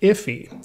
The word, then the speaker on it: IIFE: by ben allman and he pronounces it iffy he introduced the acronym